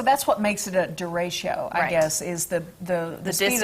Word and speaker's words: derecho: The derecho.